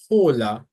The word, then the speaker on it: hola: It's always silent. So that's why you don't say hola, you say hola. Because even though the H is there in the spelling of the word, it's not actually pronounced. So it's not hola, but hola.